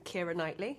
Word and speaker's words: Keira Knightley: Keira Knightley. Keira Knightley. That's how I pronounce my name.